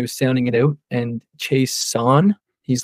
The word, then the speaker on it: Chaisson: We're just pronouncing it Chaisson, Chaisson, Chasing, whatever you're having yourself, but you say Chaisson.